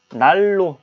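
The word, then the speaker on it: 난로: 개만 더 할게요 간단하게 자 날로 우린 이렇게 씁니다 난 로 하지만 우리는 발음할 큼 날 로 라고 발음을 하게 되죠 자 역시 ed 은 이 어떤 이유는 유무로 바뀌어 버립니다 날로 요렇게 그럼 무엇이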